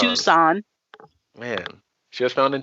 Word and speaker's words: Tucson: How do you pronounce it? Tucson. Tucson.